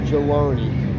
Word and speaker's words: Geloni: They pronounce their G's with a J, so that's Geloni.